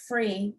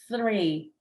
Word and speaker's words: three: pronounce this right juliana it's not free it's three and i used to